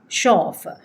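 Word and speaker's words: chauffeur: කියලා හිතන හින්දා තමයි චෝෆ චෝෆ ගානන්නේ. වැරදියි. ෂෝෆේ show. So again it is pronounced as s even though the begining of the words are ch right so now see how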